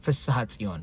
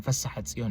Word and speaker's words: Fissahatzion: I had to learn to pronounce this The first part, Fissaha Tzion. I was saying Fissaha Tzion. No, it's Fissaha Tzion.